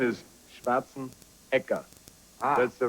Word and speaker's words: Schwarzenegger: ekka not echo people pronounce it the wrong way here a lot of times it's schwarzenegger which i understand because english things are different